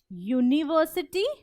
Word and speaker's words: university: But university is pronounced like university. So it sounds like Y-U, university. So it sounds as if it starts with a Y, which is a consonant.